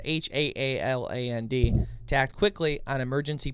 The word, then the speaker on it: Haaland: They asked Interior Secretary Deb Haaland, I think that's how you say it, it's Haaland, to act quickly on emergency petition they filed in May to relist the wolf as endangered or threatened.